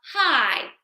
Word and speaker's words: high: so H and then remember this IG G just says i h i and we might think like oh hi how you doing but this word h g h is how high can you jump okay so again we